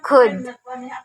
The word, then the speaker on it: could: Okay, this word is silent L, so you read this as could.